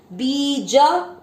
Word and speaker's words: बीज: बीज, बी पे बड़ी मात्रा लंबा खींचेंगे। ज में अ मिक्स करेंगे बीज।